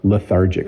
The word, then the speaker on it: lethargic: It has the TH in it, makes it a little hard to pronounce for people learning English, but lethargic.